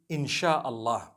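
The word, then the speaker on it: Insya Allah: They pronounce the S-Y the way we pronounce S-H. So they can write it how they want for as long as when people read it, they read it Insha'Allah.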